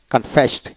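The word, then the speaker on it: confessed: তারপরে কনফেস দুঃস্বীকার করা, কনফেসড ইডিতে ত উচ্চারিত হবে।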